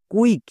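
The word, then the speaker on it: quick: এর উচ্চারণটা হবে কিউ ইউ আই সি কে, কুইক।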